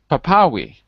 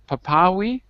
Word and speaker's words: Papawi: looks like papa we how do i say your name papawi yes papawi like that hello hi where you